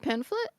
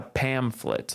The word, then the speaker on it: pamphlet: Is it pamphlet? It's a pamphlet like with an M sound. Oh, pamphlet and a T sound at the end.